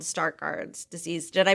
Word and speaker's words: Stargardt: both learned that you had the condition called start guards disease did i pronounce it right you did and um and